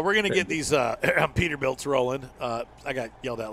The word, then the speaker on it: Peterbilt: Peterbilts, yeah. So oops. I heard an English guy call them Petterbilts. Petterbilts? Well, in all fairness, in Finland, that's of course it's spelled with two T's though.